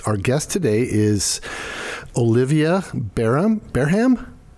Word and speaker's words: Bareham: Our guest today is Olivia Bareham? How do you say it? Olivia Bareham. Okay. And I should be able to pronounce her last name because I actually know